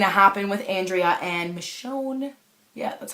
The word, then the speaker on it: Michonne: what was going to happen with andrea and michonne yeah that's how you pronounce it michonne so when i when i opened with the